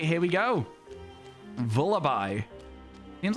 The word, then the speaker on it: Vullaby: I think I say Vullaby because it sounds like lullaby, right?